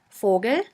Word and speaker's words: Vogel: V is pronounced like the F in the word for. In German we have the word Vogel, which means bird.